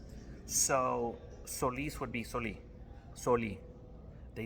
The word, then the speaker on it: Solís: And I believe it was a way of distinguishing the name by having folks say Solís, right? That emphasis on the I.